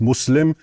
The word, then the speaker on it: Muslim: And it's not mus it's not Muslim, it's Muslim. And the two words are connected, right?